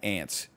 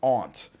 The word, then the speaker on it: aunt: ants they go teacher it's not ants you idiot it's Aunt so I changed my